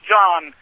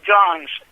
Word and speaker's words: Johns: even mispronounce his name they think that it is John no it is John's John's was the family